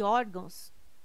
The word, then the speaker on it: órgãos: correto caráter intransferível e órgãos tem sua sílaba tônica na penúltima sílaba são paroxítonas observação poderia gerar dúvida a palavra órgãos mas ela não termina em ó termina em não banca cespe prf 2013